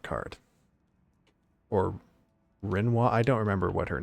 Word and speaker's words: Rinoa: Renoa.